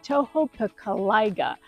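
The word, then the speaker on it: Tohopekaliga: It's just south of Orlando, right next to Lake Toho Piciga, or as the locals and people who can't pronounce it like me, we call it Lake Tohjo.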